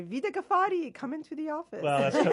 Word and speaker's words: Vida Ghaffari: That is Vida Ghaffari.